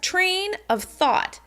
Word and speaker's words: train of thought: We tend to stress train of thought, train of thought. Train of thought, train of thought. So as you notice, it has a particular rhythm which you can expect to hear.